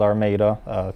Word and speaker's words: Armada: minutes north of Detroit little town called Armada spelled like our motto yeah yeah it has